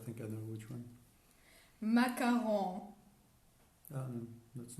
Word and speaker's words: macaron: that trigger us now people saying macaroon i can't stand it i need to listen